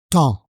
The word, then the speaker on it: temps: Alors, premièrement, on ne prononce pas le P dans le mot temps, ni le S. Donc, on prononce temps.